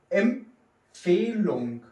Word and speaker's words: Empfehlung: Hier wird P und F nicht laut dem Regel, was wir zuletzt gelernt haben, dass die Betonung auf dem F komplett kommt. Hier wird die P ausgesprochen und die F auch ausgesprochen.